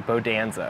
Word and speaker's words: Bodanza: Like Bonanza, but with a D, Bodanza. Bodanza. Yeah. I have struggled with it all day. Yeah, I get that song out of your head, dude. Bodanza, Bodanza.